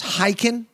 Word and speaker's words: Khaykin: And today, man, we had on a good buddy of mine, Boris Khaykin. I am pronouncing his name correctly. There's a silent K in there.